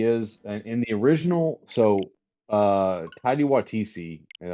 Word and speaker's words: Taika Waititi: So, Taika Waititi, and I think is what you pronounce his name, right?